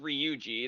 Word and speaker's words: Ryuji: amount of stuff um ryuji which like there I already screwed it up because I stressed re and r no I was completely wrong I mean it's still it is pronounced ryuji it's just I'm stressing Ru I'm stressing the ri yeah I was kind